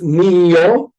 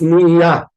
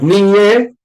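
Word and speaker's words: נִהְיָה: Now, if you do not use Ashkenazic pronunciation, if you use regular, like Israeli Sephardic pronunciation, is niya. That's niyo. It's niya. But niye, no. Niye is also in the future.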